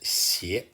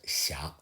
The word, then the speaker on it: 斜: This character, Xia, would normally be pronounced xie, but here, for rhyming purpose, should be pronounced xia.